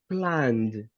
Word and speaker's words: planned: Planned. Planned. Pronunciation, exactly. In pronunciation, it goes with final d.